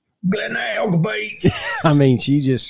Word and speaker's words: Glenelg: And so the little website that I found was an angry woman screaming, Glenelg Beach. So that's why you got that pronunciation. Glenelg Beach.